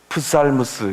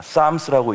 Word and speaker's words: Psalms: 풋살무스, 이렇게 읽지 않을까요? 예. 우리가 공부하려고 하는 시편의 영어 단어입니다. Psalms라고 읽는데요.